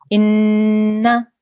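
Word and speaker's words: إنا: But the sound that the noon will make will be for 1 second only. Inna.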